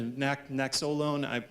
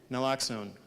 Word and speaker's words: Naloxone: I can't pronounce the Naxolone. I'm sorry. Thank you. Naloxone. In fact, it's misspelled on this slide. I sent an updated version of this, and I'm sorry. So it's Naloxone.